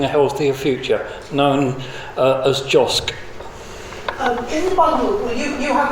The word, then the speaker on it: JOSC: I wanted to ask you first about the role of Josh, I think is probably the best pronunciation I can achieve. It's JOSC. JOSC.